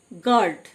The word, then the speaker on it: guard: গার্ড, GUARD গার্ড, you silent মানে চৌকিদার।